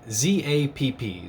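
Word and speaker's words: Zapp: called zap it's a german steel maker and it's spelled z-a-p-p zap so that's really why i wanted this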